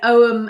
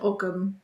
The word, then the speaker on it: Ogham: Always thought it was pronounced Og, like Nanny Og. It's pronounced both ways, isn't it? Ogham and Ogham.